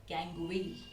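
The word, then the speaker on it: gangue: So this impurities are called as गैंग. इट is even pronounced as गैंगवे. ठीक है, गंगू नहीं बोलना please, या तो गैंग बोल दो या तो गैंगवे बोल दो.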